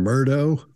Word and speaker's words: Murdaugh: It's a Scottish name. Pronunciation can go all over the place. Mark's calling him Murdo at the top.